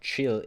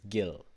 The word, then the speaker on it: Gill: it's called Gil but I Googled the pronunciation and we're talking about the fish so it's not chill it's Gil why is it called